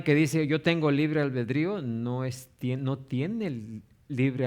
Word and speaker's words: albedrío: ¿Han escuchado del del libre albedrío? Albredío se escribe así. Ah. Albedrío. Sí, sí.